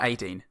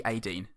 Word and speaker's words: Aideen: She said it's pronounced AIDEEN. Would you say Ideen or Adeen?